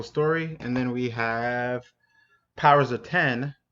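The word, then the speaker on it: Powers of X: and then we have powers of 10 it looks like a X but they want you to pronounce it as powers of 10 and then also we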